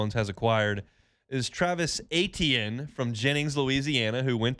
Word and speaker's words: Etienne: So I'm like, man, it's Etienne. Like, how you see it is how you say it, and it kind of